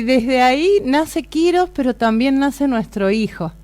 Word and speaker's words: Kýros: misma edad y bueno quirós vienen en honor a nuestro hijo antiguamente el emperador persa ciro el grande en antiguo persa se pronuncia quirós entonces de ahí viene